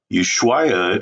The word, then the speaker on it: Ushuaia: So you pronounce that with an ooh on the front, like ooh baby. And then the schwai starts off like the bicycle Schwinn, but it ends with a Y, so it's Ushuai.